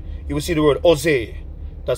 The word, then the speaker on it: Jose: in Spanish country you will see the word Jose that spelled J OSE that J is silent some people pronounce it Josie but is Jose E J is silent I